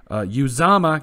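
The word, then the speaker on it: Uzomah: And CJ Uzama, got his name right.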